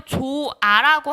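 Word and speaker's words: 좋아: 경우에는 어떻게 된다 했어 그대로 조 아라고 하고 발음은 조아 라고 하면서 히읗 탈락만 일어나는 경우가 있죠 발음 상에서만 근데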